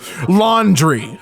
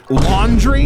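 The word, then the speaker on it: Laundreigh: the Laundry. Laundry. L A U N D R E I G H. Laundry. Hello. Like the chore. Laundry.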